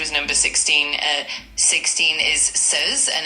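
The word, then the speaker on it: seize: Uh 16 is says and it's spelled s e i z e.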